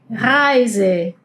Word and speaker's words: Reise: Y acá, si observaron, yo estuve pronunciando la E I como "ai". Reise. Heißen. Bueno, este sonido de la E I siempre va a sonar como "ai".